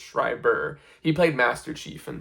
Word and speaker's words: Schreiber: I don't think it's Schrider, I think it's Schreiber.